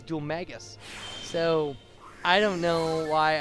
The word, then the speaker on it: Dhoulmagus: And I just heard a character in the game say it, and it was Dhoulmagus. So I don't know why I keep wanting to say Dhoulmagus.